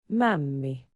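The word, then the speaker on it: mämmi: Um, where for the days leading up to Easter, there is some kind of traditional Finnish food that's pronounced well here. There you go. Mommy.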